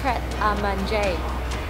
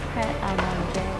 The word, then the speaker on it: Pret A Manger: And he'll say it's pronounced Pret A Manger. You. On the right. Listen. Pret A Manger.